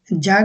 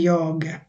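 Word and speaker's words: jag: আরেকটা important rules বলে দিচ্ছি, আপনাদের হয়তো মনে আছে অনেকের, যেটাকে সুইডিশে যে উচ্চারণ করে না, ই উচ্চারণ করে একটা ইর মতো, সো এটা জাগ হবে না, এটা হবে ইয়গ।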